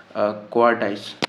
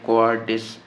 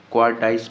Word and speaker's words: cowardice: 8वां number आपके पास पूछा हुआ है जी क्वार्टाइस, ठीक है। तो इसकी करेक्ट स्पेलिंग ये है क्वार्टाइस, ठीक है, मतलब बुज़दरी, बुज़दिली, लैक ऑफ ब्रेवरी, ठीक है। बहुत सारे लोग इसको बोलते हैं कोवार्डिस, ठीक है, इस तरह भी बोलते हैं, कोवार्डाइस